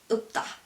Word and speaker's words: 없다: Same for this one, you have L, P, but we only pronounce P. And as I told you earlier, when you have P at the final position, it sounds like B. So the actual pronunciation for this word is 없다.